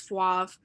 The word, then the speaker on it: Fauvre: And from there, Catherine and David, I don't know how to pronounce this last name, I think it's Fauve, and it's spelled Fauvre, turned Chaza's idea into tri-types.